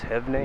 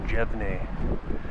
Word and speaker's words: Jevne: And I don't know if you pronounce it Franz Jevne or Franz Jevne. Instinctually I pronounced it Jevne, but the lady at Big Bog State Recreation Area pronounced it Jevne.